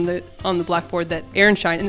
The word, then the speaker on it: Aronszajn: So I've written on the on the blackboard that Aaron Shine and it's actually pronounced Aaronshine.